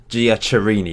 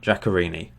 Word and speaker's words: Giaccherini: I was pronouncing this guy Giaccherini, wasn't he?